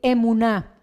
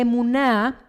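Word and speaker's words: אמונה: halla redactada textualmente con una palabra hebrea que pronunciada en español pudiera decir emuná.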